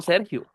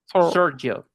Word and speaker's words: Sergio: Porque mi nombre se pronuncia como si no tuviera la e, como decir ser. de sir sir y eso suena surgil surgil ellos se comen la e porque la e no suena después este porque tenemos un